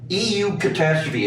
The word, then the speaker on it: eucatastrophe: But EU catastrophe, is that one word? Mhm. Eucatastrophe? Is That's that how it. they pronounce it?